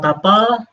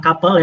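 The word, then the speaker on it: tuple: Yang kedua tapel bukan couel ya maaf ee yang jomblo biasanya agak ngenes dikit biasanya bacanya agak salah-salah gitu gitu kan baper kayak tapel. Tapi mirip sih memang sama kapel. Nanti entar kita lihat.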